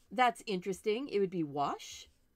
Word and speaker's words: gouache: interesting it would be wash this G is silent in French okay excellent well Stephanie